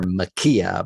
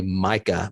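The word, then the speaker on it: Maika: her name wrong um I've been switching the K and the I and calling her Makia but her name is really Micah Monroe I just discovered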